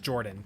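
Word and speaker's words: Jordon: It's pronounced Jordan, but it's spelled Jordan Hudson.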